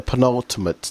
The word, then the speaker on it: penultimate: The penultimate, that's it.